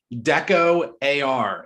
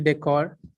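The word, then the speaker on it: DecoAR: hi yeah it's actually decor oh all right like decoration but with ar got it yeah spoiler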